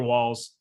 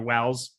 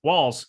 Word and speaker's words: Walls: we are wanda franco taylor walls uh or taylor wells walls i said it right the first time cool uh i'm just